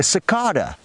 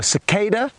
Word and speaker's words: cicada: can now see a sakada or cicada as it's more commonly pronounced in America interesting how we pronounce